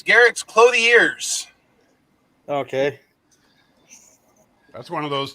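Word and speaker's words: Garak's Clothiers: Wasn't it something like Garrick's Clothers?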